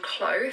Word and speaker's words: CLO: So in terms of the software, the one that I personally use is called Clo 3D. That's spelled C-L-O.